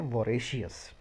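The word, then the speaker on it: voracious: इसको हम बोलते हैं वोरेशियस। वोरेशियस, VORA, इसको बोला जाता है वोरे, और CIOUS, CS, वोरेशियस।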